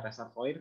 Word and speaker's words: reservoir: Nah, di sini pengertian dari reservoir ya, reservoir tulisannya reservoir, bacanya reservoir, ini dari bahasa Prancis.